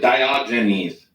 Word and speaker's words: Diogenes: __ ] name Theus in English we pronounce it diogenes diogenis man thank you